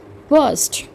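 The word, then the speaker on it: burst: फटना या फूटना, बर्स्ट। Are little silent, H का sound यहाँ पर कर जाएगा बर्स्ट।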